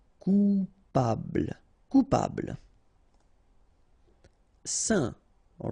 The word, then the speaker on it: saint: Saint. All right, so final T not pronounced, and then when you combine this A-I-N here, you get the sound. Saint.